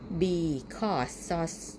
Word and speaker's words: because: อะไร ด้วย นะ คะ Because ส โซ่ อัน นี้ เป็น สระ ออ นะ คะ AU ไป สะ ออน แล้ว ก็ SE เป็น ซอย โซ่ ไม่ ใช่ สี นี้ เป็น ของ ควาย